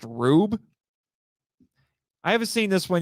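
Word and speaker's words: R/B: 2018 Ultraman it's actually it's not r slash B it's actually pronounced rube I haven't seen this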